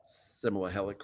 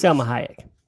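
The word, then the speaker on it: Salma Hayek: by is it I'm going to say her name wrong. Similah Helic or whatever her name is Sahayek.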